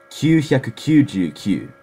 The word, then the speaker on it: 九百九十九: you can do it 999 in japanese is kyushyakukujuku that's how you say it there's no way